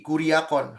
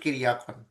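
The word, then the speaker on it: κυριακόν: this is ini ku bukan kuri kuriakon harusnya kiriakon ini kui riakon ini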